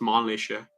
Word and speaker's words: Mannlicher: The Mannlicher, it's actually pronounced Mannlicher, the Mannlicher, but yeah.